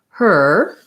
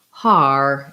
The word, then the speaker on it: her: little bit challenging so you may be trying to say the word her and it might sound more like har as in heart or you